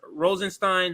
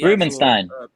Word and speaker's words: Rubenstein: in his article again that's Rubenstein Rubenstein I'm sorry Rubenstein I gotta say If he if he hears me saying it wrong ah Rubenstein Rubenstein so let's say it the right way I don't want to